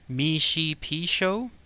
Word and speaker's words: Mishipeshu: doozy, but it's pronounced Mishipeshu, but it's spelled completely different than what it sounds.